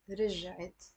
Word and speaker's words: رجعت: But if it's she returned, it becomes two syllables, and there's no more spoon on the ra. It's becoming a kasra.